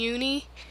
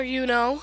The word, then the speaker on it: Yuno: But there isn't too much character development besides Yuki and Uni. Or Yuno, sorry, I've been saying her name wrong.